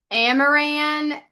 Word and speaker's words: Amaran: Amaran, you have your hand up, but I think I butchered your name. No, you said, oh, the camera's not on. No, you said it correctly.